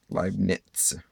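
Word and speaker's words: Leibniz: would be limits i like that z is pronounced easy here but live nits nits Ely and then you also have Newton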